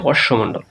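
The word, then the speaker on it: অশ্মমণ্ডল: এটা দেখো এটাকে কি বলা হয় এই যে অশ্বমণ্ডল ঠিক আছে এটা অনেকেরই উচ্চারণ করবে অশ্বম না এটার উচ্চারণ হচ্ছে অশ্বমণ্ডল তারপর দেখো প্রিয় শিক্ষার্থী একটা উদ্দীপক আছে এই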